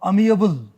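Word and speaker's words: amiable: confuse करते हैं अमी कबल अमी कबल और अमी एबल उच्चारण पर गौर फरमाना प्रोनंसिएशन जो मैं कर रहा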